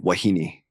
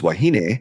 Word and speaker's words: wahine: and then you realize why I'm telling you it's wahine versus wahine, or you know haole.